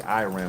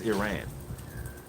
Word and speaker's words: Iran: And yes, it's pronounced Iran. Iran. You know, we with this American dialect we have, we say Iran, but it's Iran.